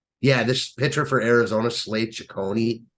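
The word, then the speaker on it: Cecconi: Yeah, this pitcher for Arizona, Slade Ciccone, I think that's how you pronounce it. He's right. It is. It's Slade Ciccone. Yeah, my fault. I was looking at Arizona against Block. Slade Ciccone.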